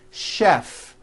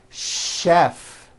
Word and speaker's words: chef: spelled with CH and are also pronounced with a sound words like chef and the city of Chicago okay having said that